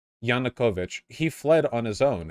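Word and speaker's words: Yanukovych: not violent Bosh yeah say it right janakovich he fled on his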